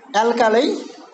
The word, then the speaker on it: alkali: Alkali, the last one is, you see that last one is a diphthong, I. So of course it is then stronger than the first one, a. But as as the first one is strong and the last one is not less than strong, that is why it has got the first one is stressed.